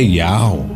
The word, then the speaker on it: Yahweh: Observe o nome desses três profetas, Isaías, Jeremias e Elias, que no original são Ishaial, Eremial e Elial. Mas espere, notou alguma semelhança na pronúncia desses nomes? Agora vamos voltar ao versículo. Assim porão o meu nome sobre os filhos de Israel e eu os abençoarei. A semelhança entre esses nomes é Yahweh.